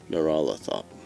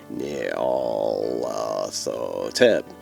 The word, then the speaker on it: Nyarlathotep: There's no official way to pronounce the name since it's a made-up nonsense word. I prefer Nyarlathotep. Whatever, say it however you want to say it.